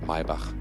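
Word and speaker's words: Maybach: the way yeah yeah you say my bach that's the german pronunciation not not my bach this is uh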